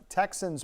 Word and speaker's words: TXANS: Now you can sign up for messages through ERCOT's Texans portal, which is spelled TXANS.